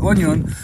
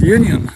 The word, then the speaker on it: Union: It's called Onion, but the pronunciation that is correct is Union.